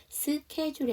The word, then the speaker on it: schedule: "schedule" 에서 'h' 는 묵음 입니다 .